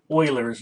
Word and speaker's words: Euler: And it's called Euler's number. It's pronounced Euler.